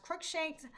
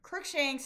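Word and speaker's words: Cruikshank: United States versus Reese in Kentucky, and United States versus, I believe it's pronounced Crookshanks, which is from Louisiana.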